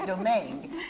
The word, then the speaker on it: Domingue: Before the camera was on, she told me, remember, it rhymes with meringue, her last name, Domingue, because I've been calling Domingue all this time.